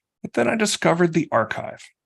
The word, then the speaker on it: arXiv: But then I discovered the archive, spelled ARXIV, with the X being pronounced like the Greek letter chi.